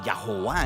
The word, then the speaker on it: Jehová: una palabra híbrida artificial que si la pronuncias suena como ya howard pero ninguna israelita decía ya jova en realidad es simplemente un recordatorio visual para decir la palabra ado nay ahora se pone más